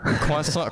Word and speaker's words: croissant: Like, out of curiosity, how would you, as someone from France, pronounce this word that I sent you on your DM? Oh, let me check. Croissant. Croissant. Oh, wait. I have to learn this. Croissant? Did I say it right? Yes. Yeah, croissant. Alright, so it's a croissant. Because a lot of people say croissant, croissant, like a croissant. The accent. Yeah, croissant, yeah. Okay, so do you have